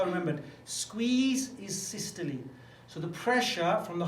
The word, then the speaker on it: systole: We've got this word systole, spelled systole, but we pronounce it systole, and we got spelled.